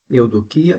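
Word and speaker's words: εὐδοκία: Eudoquia e télema. Beneplasto. Veja só o que vem a ser. Eudoquia, no grego pronuncia-se eudoquia mesmo, cujos significados são vontade, escolha, boa vontade, bom intento, benevolência.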